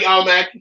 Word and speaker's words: Almac: I'm at Almighty Almac. That's how you say it.